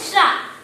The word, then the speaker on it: श्रा: देखो, हम उच्चारण करते समय ही हमारे मुंह से आता है शा, अधिक, रा बोल के आता है ना, श्रा। शा, अधिक, रा मिलके श्रा बना है।